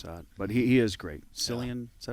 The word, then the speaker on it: Cillian: Cillian, is that how you say it?